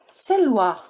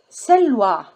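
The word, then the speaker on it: سلوى: Female names: Huda, Muna, Leila, Selwa. See, you don't pronounce ya, you pronounce it like you pronounce Alif. Huda, Muna, Leila, Selwa. It's like a sound at the end.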